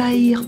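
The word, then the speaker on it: haïr: comme vous l'avez constaté le H est aspiré mais pourquoi le verbe aïir prend un h aspiré là encore il s'agit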